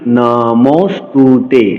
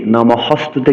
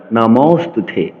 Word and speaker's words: নমস্তুতে: অনুচ্চারিত বলছি মহা লক্মী নমস্তুতে নমহস্তুতে কিন্তু বলেনি নমহস্তুতে বলা যাবে না নমস্তুতে আমরা উচ্চারণ সম্পর্কে জেনেছি